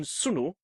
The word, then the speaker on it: sunu: Thus, whilst N in sunu is pronounced as in money, the n in sun the sun is pronounced as in pen knife.